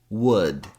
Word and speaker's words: would: Also, yoke, folk, could, would, should. In fact, these three last words, we only have 3 sounds in each. And the secret to pronouncing could, would, and should is knowing the sound in good.